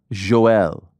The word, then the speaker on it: Yoel: Okay, so first I thought Yoel Romero's on the card. I believe it's pronounced Joel.